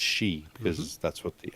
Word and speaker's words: Xi: know what i want to say but it's she because that's what the x is so anyway